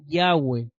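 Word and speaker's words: Yahweh: no lleva vocales Entonces por qué sabemos que el nombre de yahwe se pronuncia yahwe yahwe tiene dos sílabas porque es un nombre compuesto de dos verbos Existen tres formas del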